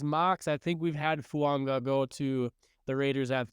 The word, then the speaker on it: Fuaga: have learned this pronunciation it looks like it's fuaga but his last name is actually fua which is different fua okay I didn't know